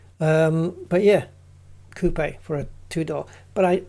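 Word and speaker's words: coupé: But it's it's coupe because the the e has got the accent above it, like cafe. Cafe. Coupe. It is coupe. It's not coupe. Um, but yeah, coupe for a twodoor.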